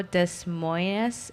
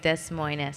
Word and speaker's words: Des Moines: Yeah, Des Moines a weird one if you've never seen it before. Des Moines a weird the way it's spelled. Yeah. Yeah, it's like Des Moines, Yeah.